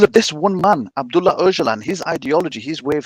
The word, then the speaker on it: Öcalan: Öcalan. It's spelled Ocalan.